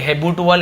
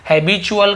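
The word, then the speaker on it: habitual: हो गया हैबिल हैबिट्युअली इसे भी देखिए चुअल ऐसे पढ़ेंगे हैबिट अल ऐसे कुछ नहीं प हैबिल ठीक है हैब चुअल का मतलब क्या होता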